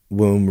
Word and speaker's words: womb: far back you go womb rhymes with room o ouch yeah very